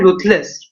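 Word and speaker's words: ruthless: देखिए रूटलेस, हम इसको रूथलेस बोलते हैं, वैसे इसका प्रोनाउंसिएशन क्या है, रूथलेस।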